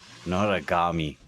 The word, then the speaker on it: Noragami: How do you pronounce Minnow's name here? Noragami.